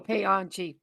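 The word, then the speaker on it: Paanchi: You got to pronounce Panchi. each A, so you go Payanchi. Oh, Yeah. Payanchi. Yep. I think Punchy is better.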